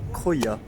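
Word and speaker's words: Krujë: Croia. S'écrit K-R-U-J-E.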